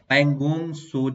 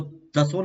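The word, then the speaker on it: Pangong Tso: और अगला हमारा आज का टॉपिक है वो है पैंगोंग सो झील। क्या कह रहा है इसके बारे में देखिए। पैंगोंग, इसको तसो नहीं कहेंगे, ये 30 में साइलेंट होता है।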